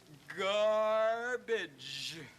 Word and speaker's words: garbage: The first one is pronounced G, and the second one is pronounced J, don't you see? It's garbage.